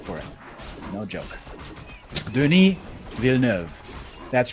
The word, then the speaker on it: Villeneuve: I looked on YouTube how that director is pronounced exactly in French, because that's how much respect I have for him. No joke. Denis Villeneuve.